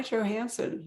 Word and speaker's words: Johansen: We get to talk to an author we have not spoken to in the past, Johansen. Have I pronounced that properly?